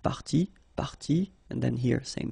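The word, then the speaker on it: parties: what you will pronounce the good news is that you won't pronounce these a s or or a s okay so it will go like party party and then here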